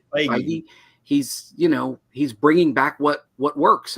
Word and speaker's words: Feige: that whoever's running the show, how do you pronounce his name, Darren? Feige? Kevin Feige. Feige.